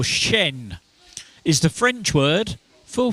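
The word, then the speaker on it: chien: I think it's pronounced Shane or Shen is the French word for what animal and 14 teams got it.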